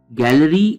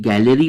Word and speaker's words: Galleri: Spelling के ऊपर थोड़ा सा ध्यान दीजिए आप, GALLERI गैलरी ब्लड टेस्ट।